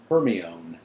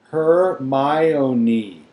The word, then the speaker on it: Hermione: say her name properly he kept calling her herion her my owni she said slowly and clearly Hermon nin close enough she said